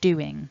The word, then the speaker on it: doing: and done and then there's a stress in doing because it's a two syllable word we want to have a stronger emphasis on the first syllable do doing and then we've got